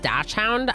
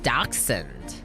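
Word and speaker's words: dachshund: Um, I always thought it was pronounced dashhound. I think it's Docund like Doc Doc Hund or something like that.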